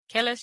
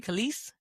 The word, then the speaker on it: Kelis: Kellis, you mean Khalees? I'm so sorry. Is that how you say it? Yeah. I once again need everyone to know that I don't know a lot of people. The fact that I know how to spell it. Kelis. I just didn't know it was Khalees.